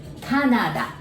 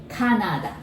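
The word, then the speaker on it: カナダ: canadian so we say canada we don't have the cat sound pronunciation in japanese canada how about toronto that's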